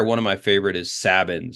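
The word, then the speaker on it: Sabine's: of my favorite is sabbin or sabines or sabines we can never agree on how to pronounce this one but it's sabins for me uh they have this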